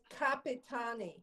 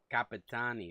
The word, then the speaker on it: Capitani: It's Capitani. Capit. Capitani. Okay.